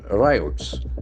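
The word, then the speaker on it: ryot: Desperate riots. That's very important. R-Y-O-T. It's not a common word basically. So it has got a beautiful pronunciation. Riot. Riot. That I sound is very prominent.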